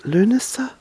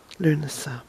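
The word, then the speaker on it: Lughnasadh: first be Altoona August the first Luna sir which is spelled by the way L u G H as in the ancient God Lou NASA and a s a D itch Luna sir so Luna sir then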